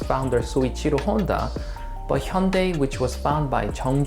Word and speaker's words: Hyundai: in your head hey i thought it was hyundai nope it's pronounced hyundai hated and underrated in some countries love then